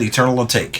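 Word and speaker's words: Eternal Atake: Eternal A Take. Is that how you say that? Eternal A Take.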